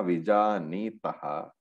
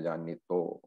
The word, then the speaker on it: विजानीतः: Ubhau tau na vijanitaha. The to is because in chanting when the visarga is not pronounced, the vijanitaha becomes vijanito.